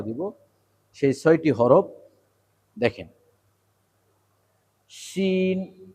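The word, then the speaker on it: شين: শিন, শিন, শিন। এই শিন উচ্চারণটা 2 দাঁতের মাঝখানে মাড়ির সাথে জিহ্বাটা স্থায়ী হয়ে থাকবে এবং চাপ দিয়ে উচ্চারণ শিন, শিন।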